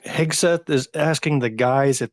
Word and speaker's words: Hegseth: I mean, you got Pete Hegseth. Okay, I said it right the time.